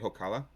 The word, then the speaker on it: Hokala: I say it Hokala. Hokala.